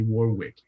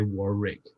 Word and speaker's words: Warwick: And most Americans call me Warwick. Yeah, Warwick. That's the way they say it. It's just that in English, you just say Warwick.